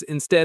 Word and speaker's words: instead: The word instead. Instead, stress on the second syllable.